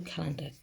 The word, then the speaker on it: calendar: Look at this part. Calendar. A-R on the end. It's calendar. It sounds like calendar, but it's calendar.